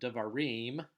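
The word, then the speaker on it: דְּבָרִים: So, in the word Devarim, the eem is the tonic syllable. Now, the pretonic syllable is the syllable that comes before the stress syllable.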